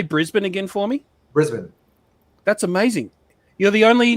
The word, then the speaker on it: Brisbane: been in the gold coast he's been in brisbane and he's been everywhere and everywhere been living